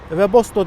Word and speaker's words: Webasto: fark ısıtıcı sistemler deniyor Ama bunlar halk arasında vebosta diye çok fazla telaffuz ediliyor bu fark ısıtıcı sistemleri